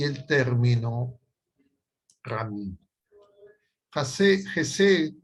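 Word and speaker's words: Hesed: términos son el término Gesed y el término Ramí. Gesed, si quieren ustedes, si quieren tomar nota, se escribe H-E-S-E-D.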